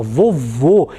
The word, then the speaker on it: vovô: a palavra vovo vo olha só vovô ele é um som mais fechado ele é um timbre mais fechado então é o significado